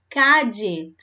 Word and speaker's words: calle: Também vocês podem ouvir por aí uma outra forma de pronunciar esse LL aqui, tá? Igualmente aqui no LL do apelido. Eu posso ouvir falar calle ou calle, na Argentina em especial, ou calle também, ou calle.